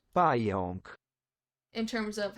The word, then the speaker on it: Pająk: Pająk. Pająk. Pająk. That almost makes it sound like the second A is like an ON kind of sound. Pająk.